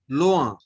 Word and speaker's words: loin: So oin is o. Okay. Oin is o. If in is a, then oin is o. Okay. Now you pronounce the first word. Loa. Loin.